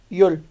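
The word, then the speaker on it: 열: दस नंबर पे है ई यंग साइलेंट है, यो और रियल, योल योल योल।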